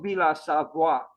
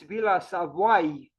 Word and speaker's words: Villa Savoye: only today how to spell correctly, how to pronounce correctly. It's not Villa Savoye, it's Villa Savoye, apparently, based on that site, how to pronounce names correctly.